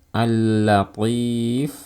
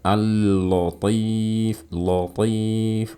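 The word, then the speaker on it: اللطيف: Kesalahan yang pertama adalah menebalkan huruf lam di tempat yang seharusnya dia dibaca tipis. Contoh, al-latif dibaca al-latif, latif, enggak ya, tipis.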